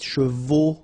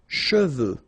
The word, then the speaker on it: cheveux: Usually this one is a bit of a problem because some of the students normally pronounce it chevaux. Okay, so try to keep in mind that you get E-U here.